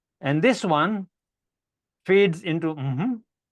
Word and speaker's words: mmhmm: in your browser you'll be taken to a place called mm it's pronounce as mhm and this is what